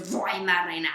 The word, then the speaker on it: Weimaraner: I even have a poster of a Weimaraner that says Weimaraner. That's how you pronounce it in German, according to Google.